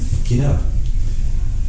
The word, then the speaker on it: quinoa: Quinoa. No. It's quinoa. Quinoa. Quinoa. You pronounce it quinoa?